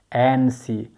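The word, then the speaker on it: antsy: को आखरी नंबर को एन सी एन सीदासी इंसान शख्सियत को पी के टी साइलेंट दे बिलकुल पक टीस एन टी साइलेंट दे सही प्रोनाउंसिएशन एनसी और एनसीदासी शख्सियतसी इंसान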